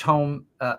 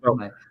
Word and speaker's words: Homme: Josh Homme, is it Homme or Homme? I thought it was Hom. I think the E is pronounced as well. I think it's Homme.